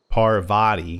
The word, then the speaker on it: Parvati: said we're not going in here not with Pavarotti Pavarti I cannot say her name Parvati not with Parvati we are trying to eat